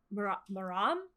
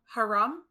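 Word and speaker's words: حرام: for forbidden or elicit I don't know really how to pronounce it but maram um so how would you pronounce forbidden or let's say in Arabic is actually I believe it's Haram oh that's how you say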